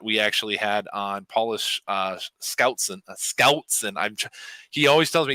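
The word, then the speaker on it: Schoutsen: And before that, we actually had on Paulus Scoutson. He always tells me you got to pronounce my last name like there's a G after the S, and it's hard for me to do Scoutson.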